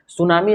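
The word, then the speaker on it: tsunami: इसका प्रमुख उदाहरण है सुनामी में सुनामी की जो स्पेलिंग होती है वो टी से होता है क्योंकि एस के पहले टी आया है तो इसमें टी क्या हो जाता है साइलेंट हो जाता है ठीक है ना उसी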